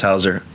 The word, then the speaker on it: Hauser: Hauser. A lot of people say Hauser. I mean, it's pronounced Hauser.